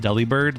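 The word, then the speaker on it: Delibird: also the fact that you pronounced Deli bird like delivered cuz it's like a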